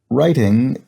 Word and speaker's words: writing: writing and arithmetic so writing starts with an r sound but obviously has a silent w and arithmetic has an